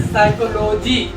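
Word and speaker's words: psychology: को क्यों नहीं पढ़ते क्योंकि पी के तुरंत बाद एस आया है इसी को इसलिए प नहीं पढ़ेंगे इसको क्या पढ़ेंगे साइकोलॉजी साइकोलॉजी इसको पढ़ेंगे तो नेक्स्ट हम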